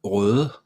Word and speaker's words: Røde: It means red in Danish and Swedish. Yeah, I think so in Swedish. And it's pronounced røde. Yeah, okay.